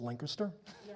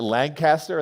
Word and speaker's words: Lancaster: also to be specific it's pronounced Linker I guess we now know who's that there it is pronounce c in my job interview I called it Lancaster and the search committee started laughing my cab driver slammed